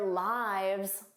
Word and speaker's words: lives: So lives, this is the irregular plural noun of life. And notice that pronunciation, lives, their lives were long. But of course, she lives in Canada. Lives is the third person singular of the verb to live. So notice those pronunciation differences.